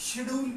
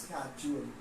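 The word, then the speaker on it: schedule: देखो यहाँ पे बताने वाली चीज है कि इसको लोग शेड्यूल पढ़ते हैं, बट शेड्यूल is wrong pronunciation, it should be pronounce स्केड्यूल, इसको स्केड्यूल कहते हैं, स्केड्यूल ऑफ ट्रैवल।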